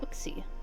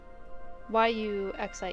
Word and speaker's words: Yuxie: Lake Autie is protected by the Pokemon Usie. Did I say that right? I'm not as familiar with these Pokémon. Let's see if there's a pronunciation guide in Bolipedia, so I'm not completely butchering these. Yuxie Yuxie E is the Yuxie.